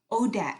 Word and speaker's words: ODAT: popular recovery podcast cast which is pronounced odat chat o d a aat for one day at a time where her guests share